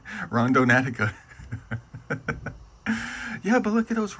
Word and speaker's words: Randonautica: Rondon Natica.